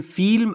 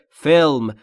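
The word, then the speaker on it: film: فلم فلم یعنی فیلم تو فارسی میگیم فیلم ولی تلفظ درست انگلیسیش اینجوریه فلم گلم یعنی یک فیلم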